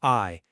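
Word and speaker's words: 愛: So in Hebrew, the equation is literally love plus unity equals God.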